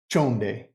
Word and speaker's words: chonde: is please and that word is simply chonde c-h-o-n-chon day that's how we say please sorry this one you'll